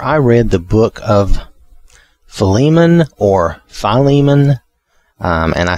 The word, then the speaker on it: Philemon: different people that either philemon or or philemon you know kind of um a long the lee is the one is the syllable that's supposed to be i think the most stressed and i think the